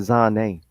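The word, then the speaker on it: Zhané: They pronounce it Zane. How you spell that? Zhane.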